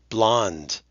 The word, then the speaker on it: blonde: for number five good blonde and you see that e at the end that's a this is a trick word we don't pronounce that E okay how about for